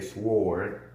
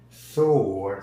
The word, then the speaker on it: sword: have that that problem I try to tell him that the W for whatever reason is silent so it's sword sword sword not not sword is sword so so do we